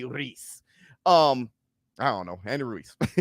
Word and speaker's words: Ruiz: Biz say the proper way to say it is Andy Ruiz.